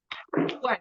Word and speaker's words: worked: this is not working it's worked worked worked worked with the T and see remembered I